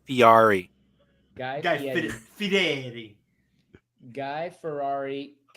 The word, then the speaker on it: Fieri: Guy Ferrari. Guy Ferrari? What's his name? Ferrari? Guy Guy Guy- Fury? Guy Fieri. No, it's pronounced Fiari.